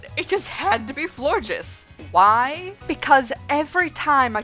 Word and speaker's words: Florges: Florges rhymes with gorgeous for a reason.